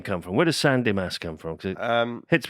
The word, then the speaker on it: San Demas: San Demas.